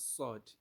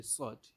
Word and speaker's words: ص: S to pronounce sord but the only difference is that you are going to let your your your lips be a little bit round while you are pronouncing the sword but in the case of the sin you make your lips to be flat and you make your